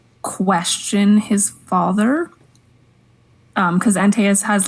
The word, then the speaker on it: Antaeus: I don't know how to pronounce it. Greek names are hard, guys. Oh, it's Antaeus.